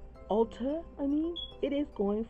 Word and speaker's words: Ulta: BH Cosmetics now on Ultra Ulta I mean it is going for $16 if you want to save $3 go to ultra Ulta I don't know why I keep saying the name wrong Ulta it is cheaper